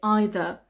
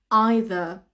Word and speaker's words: either: Some people say either. Now, in the UK, the UK pronunciation is either. Either is more American. However, in the UK, people say either, people say either. So both of them are understandable and both of them are correct.